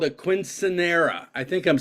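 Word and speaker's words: quinceañera: A quinceanera for a 15-year-old daughter of one of my reps.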